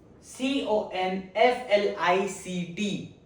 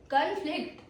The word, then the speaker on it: conflict: Pronunciation two. Conflict. Conflict. The stress on second syllable.